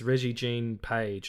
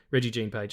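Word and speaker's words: Regé-Jean Page: I believe it's Reggie Jean Page. Reggie, there's a little one of those little wisps above the E. So maybe I'm pronouncing it wrong, but yeah, Reggie Jean Page.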